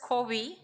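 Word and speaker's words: COWI: It's pronounced as Kovi CI which is the two first names of our founders.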